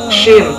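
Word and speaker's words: ش: 13 yaitu huruf shin, pelafalannya sya.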